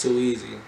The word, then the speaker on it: 2K 333Z: Name 2K 333 and a Z, but it's pronounced too easy.